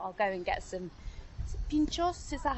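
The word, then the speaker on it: pintxos: And on my first night sort of in Bilbao, I went out, thought I'll go and get some pinchos, is that how I pronounce it? Yeah, pinchos.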